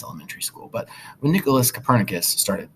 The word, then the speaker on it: Copernicus: That's how you pronounce his name? Copernicus. Not Copernicus, but Copernicus.